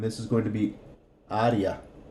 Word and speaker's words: área: De, and this is going to be área. Área. Código de área. Remember that this is always going to be an A.